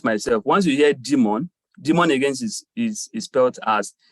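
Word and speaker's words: daemon: it can also be referred to as a demon now demand is spelled d-a-e-m-o-n so once you hear demon once yes service once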